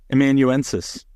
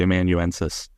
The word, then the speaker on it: amanuensis: No, spell it. I'm not a great speller either. A-M-A-N. Amanuensis. U-E-N-S. Thank you. There you go. I'm gonna pretend that I'm pronouncing it correctly. Amanuensis.